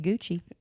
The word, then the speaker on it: Gucci: They happen to be Gucci. They're a designer brand that rhymes with Bucci.